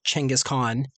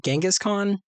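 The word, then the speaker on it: Chinggis Khan: protect a merchant caravan trying to find Changaskhan, which I've spent my whole life pronouncing Genghaskhan. But the author is an academic specializing in Mongolian history, so I'll go with her pronunciation, unless it's supposed to be fantasy pronunciation.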